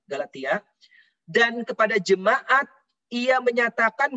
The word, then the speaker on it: Galatia: mendirikan Jemaat di Galatia bacanya Galatia ibu bapaknya bukan galaxia Galatia dan kepada Jemaat ia